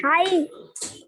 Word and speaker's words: high: It looks, The 10th one is high. yeah, good. And is high. And what's the silent letter in high? Ma'am, And also H, I guess, right? That whole diagraph is silent.